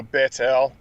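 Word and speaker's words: Bethel: how to say it it's baits l bait okay yeah that's that tav it's like so bettel and he pitched his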